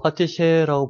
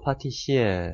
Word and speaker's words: 파티셰: 뭐 파티셰라고 부르기도 하고 파티시에. 파티시에. 예. 파티시에. 그럼 이 종류가 다양한가요? 파티셰가? 그러니까 보통은 이제 파티셰로 많이 부르고 파티시에 이게 사람마다 발음하는 거 그냥 그 정도 차이고요. 발음의 차이죠. 네, 발음의 차이고.